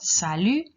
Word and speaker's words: salut: So we've got salut, that T is silent on the end, bonjour, bonsoir, au revoir, à tout à l'heure.